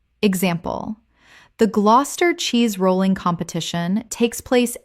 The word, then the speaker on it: Gloucester: Gloucester. Common mispronunciation. Gloucester. Correct pronunciation. Gloucester. 2 syllables only. The middle syllables disappear completely. Example. The Gloucester cheese rolling competition takes